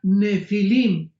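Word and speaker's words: Nephilim: es la palabra nepil con n de Nancy y pH intermedia Ne pilim se pronuncia nefilim en el original hebreo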